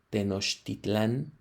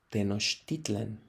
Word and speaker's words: Tenochtitlan: Entonces, cuando alguien dice Tenochtitlán. Tal vez la pronunciación adecuada en términos de la palabra no es esa, sino Tenochtitlan, ¿sale?